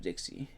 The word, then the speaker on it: Dixie: my name is Dixie and I am known for many things whether it be that my last name rhymes with Pixie or several qualities that